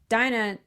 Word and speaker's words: Dinah: But for Dinah.